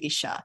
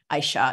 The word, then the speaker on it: Aisha: most important to you Isha Aisha sorry I keep on mispronouncing your name Aisha there is a big